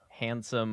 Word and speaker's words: handsome: So, right, my favorite is handsome, but instead of the extremely common word handsome with a D, usually not pronounced, I think.